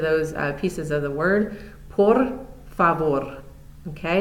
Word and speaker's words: por favor: For please, the pronunciation is por favor. This is a good place to start also working on that rolled R sound.